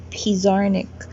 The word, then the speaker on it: Pizarnik: You have Sappho, Maria Sabina, Alejandra Pizarnik. Is it Pizarnik or Pizarnik? It's Pizarnik.